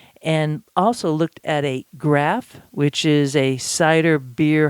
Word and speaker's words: graf: I am actually finding more and more graphs that are really well made. And I want you to just, if you're not familiar with that term, it's spelled GRAF, graph.